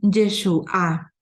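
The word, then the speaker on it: ישועה: palabra hebrea para salvación es yeshúa con con el acento en la y el nombre del mesías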